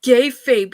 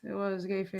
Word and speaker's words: kayfabe: It was kayfabe, you guys. It was kayfabe, everybody. So pronounce that right?